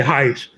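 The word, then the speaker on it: Haisch: And it says in 2006, German physicist Bernard, I cannot pronounce his last name. Is it Hashi? Known both. Just say Heish.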